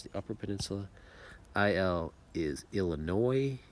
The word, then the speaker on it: Illinois: IL is Illinois. You do not pronounce the S.